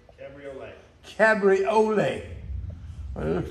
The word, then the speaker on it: Cabriolet: How do you say it, Cabernet? Cabriolet.